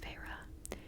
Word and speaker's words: Feyre: She fixed her wide eyes on me and said, "Please, Feyre." She drew out the two syllables of my name, Fey-re, into the most hideous